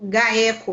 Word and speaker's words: GAECO: pela Polícia Civil de São Paulo e pelo GAECO. É assim mesmo que pronuncia?